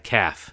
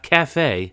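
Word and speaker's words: caff: You usually find them in a dead high street or a dying seaside caf. Not cafe. No, we dropped the French pronunciation for such establishments.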